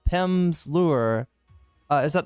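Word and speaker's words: Pimsleur: Uh, not Pimpsler. Uh, Pimp's Lure.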